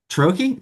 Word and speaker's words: Ciarrochi: Troche.